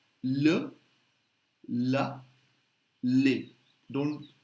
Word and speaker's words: les: masculine feminine plural both the pronunciation look la Li don't pronounce the S live la Li okay and